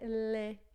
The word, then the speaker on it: lait: Então, todas as vezes que você vê as letras A e I juntinhas assim, vai ter som de E. Né? Então, leite, por exemplo, em francês é lait, forfait, jet, né?